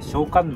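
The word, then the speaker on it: 聖観音: 田聖子の聖と書いて小観音と読むんですけ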